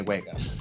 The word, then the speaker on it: WEGA: that's the one that it kind of looks like Vega, but with two V's. And Sony's always like, no, it's Wega. Say Wega.